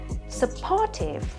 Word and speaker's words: supportive: Vậy thì đáp án D, supportive, đây là đáp án duy nhất mà trọng âm rơi vào âm tiết thứ hai.